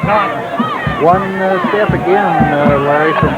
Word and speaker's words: Naughton: Naughton. That's not how you pronounce it. It's just Todd Naughton.